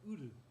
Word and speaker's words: Udu: And, but they're called Udu. It's spelled U-D-U, and it basically it means pot.